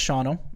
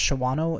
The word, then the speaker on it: Shawano: that's awesome yeah and that's in Shawano Wisconsin yeah uh pronounced Shawano if you're from anywhere else yeah it's actually uh